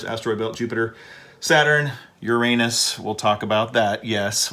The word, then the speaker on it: Uranus: ignore it I mean science teachers have been trying to say Uranus because they're tired of people falling out of their chairs laughing every time something says your rain is but but I've looked it up multiple times and it looks like the actual pronunciation is Uranus so Neptune of course